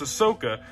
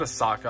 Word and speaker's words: Ahsoka: right off camera but it's Ahsoka not a Saka I know I know